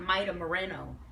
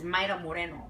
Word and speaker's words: Mayra Moreno: It's not Mayra Moreno. Her name is Mayra Moreno.